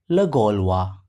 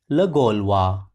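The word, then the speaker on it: Le Gaulois: on 17th February 1884 in the French newspaper lolwa look at the spelling and the pronunciation once again the French newspaper lolwa the story revolves around an unhappy lady named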